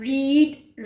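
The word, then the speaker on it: read: अब plural we have रीड रेड इसको हम रेड पढ़ेंगे क्यों यह रीड की थर्ड फॉर्म जो है वो रेड होती है लेकिन स्पेलिंग सेम होते है वी हैव रेड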